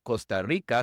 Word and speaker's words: Costa Rica: En la primera palabra costa, la o es una o larga inglesa. Es un ditongo. Es como si fuera o u. Ou. Costa. Costa.